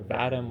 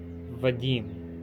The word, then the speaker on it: Vadim: d i m Vadim a lot of people pronounce it vadm or vam or viim viim it's like okay guys enjoy yourselves it's pronounced viim it's a Russian name I I'll have